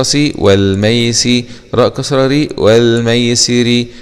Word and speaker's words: والميسر: والميسي راء كسره ري والميسري نقف عليها والميسر بتركيك الراء.